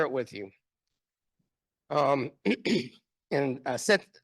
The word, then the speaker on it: Satanta: with you um and set sometimes it's written a Satanta but that's not how you pronounce set settin means white bear um and this was